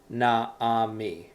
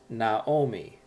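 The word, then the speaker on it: נָעֳמִי: And when that happens, it changes to an O sound, like an O.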